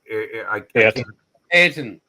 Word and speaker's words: Ayrton: Can you help me pronounce the name? Senna? Arlington or Ayrton.